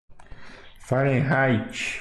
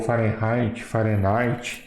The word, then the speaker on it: Fahrenheit: Fahrenheit ou Fahrenheit, tanto faz, né? A pronúncia aí fica meio a critério, né?